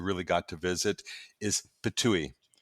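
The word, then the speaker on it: Ptuj: city that you really got to visit is pouille it's spelled PT I it was it's a very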